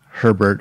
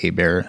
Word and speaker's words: Herbert: But Frank Herbert, who I'm going to keep calling Frank Abear because Herbert is pronounced Abear in Louisiana.